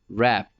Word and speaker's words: wrap: होती उसको रैप करता, रैप लपेटना, रैप WRAP रैप, इसमें W साइलेंट है, रैप।